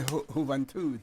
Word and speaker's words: Isla de la Juventud: How you say it in Spanish? Isla de Juventud.